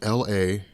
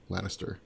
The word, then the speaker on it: Lannister: And then the last part is Lanniston. No, that's not right. Lannister.